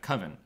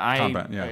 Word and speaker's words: convent: But the nuclear family is interesting, and also we have a picture here of the Coven. And Convent, the convent.